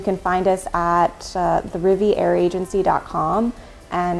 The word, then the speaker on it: Riviere: find us at the riviera agency com and it's spelled like french riviera but with an e at the end agency com and our